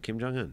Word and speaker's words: Kim Jong-un: he's talking about like like backing his boy Kim Jong-un uh is that how you pronounce that Am I Wrong J Kim Jong-un that's that's right uh he's the guy who